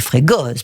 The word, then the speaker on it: Fregosi: René Frégosi, comme votre nom l'indique, on dit René Frégoz, parce qu'on prononce pas la dernière voyelle en Corse.